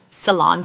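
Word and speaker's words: Ceylon: Salon cinnamon. I'll spell that out.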